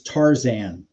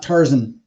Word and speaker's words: Tarzan: So I haven't found a pronunciation guide for that one. So I do know one thing. It's Tarzan. It's not Tarzan.